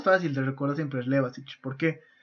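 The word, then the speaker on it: Levačić: Y el más fácil de recordar siempre es Levasich. ¿Por qué? Y digo ich porque recuerden que cuando está en IC se pronuncia ich en español.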